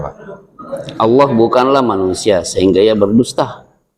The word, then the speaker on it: Allah: Bukan Bapak kan sudah biasa baca Allah pakai tasdid. Kalau di sini kan enggak ada tasdid. Jadi Bapak bacanya Allah saja. Tetapi penggunaan kata Allah di dalam kitab mereka